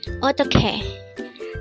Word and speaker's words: 어떡해: EOTTEOKHAE. EOTTEOKHAE. This is pronounced as a 3-syllable word. The first syllable is O, second syllable is tok, and third syllable is he. Pronounce it with me. EOTTEOKHAE.